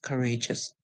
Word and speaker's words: courageous: of longer English words the O is silent in it and the u s makes the sound us if we put the parts together we are going to have our or age and US corageous courageous what does courageous mean